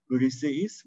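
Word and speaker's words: Βρισηΐς: Ve normalde bir diftong oluşturacak iki ünlünün diftong oluşturmadığını, yani iki ayrı hece olarak telaffuz edilmesi gerektiğini söyleyen bir ortografik bir alet bu. Briseis, Briseidos diye üç hece Briseis, dört hece Briseidos diye çekiyoruz bunu.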